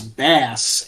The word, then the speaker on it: Bass: Slapping the bass. Thank you, Getty. These are all musical puns. It's bass, obviously. But it's pronounced Bass in Mega Man 8's cutscenes.